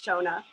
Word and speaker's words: Shona: lex so much and yeah it's shona but that's that's fine that's all right as